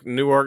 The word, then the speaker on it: Newark: I think Newark, New Jersey is Newark. It's real fast, like Newark.